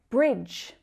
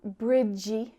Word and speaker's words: bridge: Bridge. So it's not bridgey or bridge. Bridge. Just one syllable.